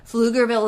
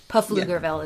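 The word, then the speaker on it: Pflugerville: who aren't from here fluger Ville is is spelled PF l u g RV i l l e pfugerville is is what it looks like yes and then to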